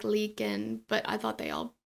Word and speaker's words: Leakin Park: So he pulled over on the side of the road by Leakin Park. I always want to say Lincoln Park. It's not Lincoln, it's Leakin.